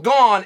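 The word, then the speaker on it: Gane: when I'm discussing surreal gone is arguing with John anik that his last name is pronounced gone instead of gong or gang or gang or anything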